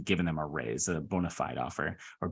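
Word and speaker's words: bona fide: end up actually giving them a raise a Bonafide offer or bonafed is how I'm told it's actually pronounced stage two is a little bit different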